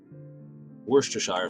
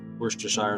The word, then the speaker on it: Worcestershire: And yeah, that is the right way to say that. Worcestershire sauce. But it doesn't say yeah, it does have a Chester in there. You don't say that. Yeah? You don't say that part.